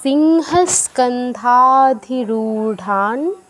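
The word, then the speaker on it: সিংহস্কন্ধাধিরূঢ়াং: এখানে স্কন্ধা ধাতে দীর্ঘ আর রুতে দীর্ঘ, রু কিন্তু দীর্ঘ উকার আছে। ঢয় শূন্যর উচ্চারণটা ঢয়ের মতো করতে হবে, ঠান। অনুসারের পর তবর্গীয় অক্ষর থাকে, নয় হসন্ত হবে এখানে।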